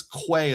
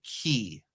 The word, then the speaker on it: quay: And uh the word I pronounced as quay is actually key.